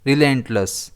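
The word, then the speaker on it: relentless: इसे हम प्रोनाउंस करेंगे रिलेंटलेस। इसमें स्ट्रेस एल पर आएगा।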